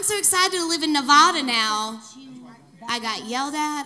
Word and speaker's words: Nevada: i get it now i get it it's nevada i had to train myself nevada data i had to train myself because the first time i said i'm so excited to live in nevada now i got yelled